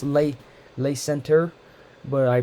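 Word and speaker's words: Le Center: I'm saying it purposely wrong but it's late late Center but I pronounced it lay Centaur because it's French it's shortly after the Saint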